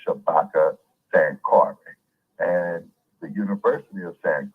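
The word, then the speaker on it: Shabaka Sankore: n k o r e the name is pronounced Shabaka San Cary and the University of San Cary okay which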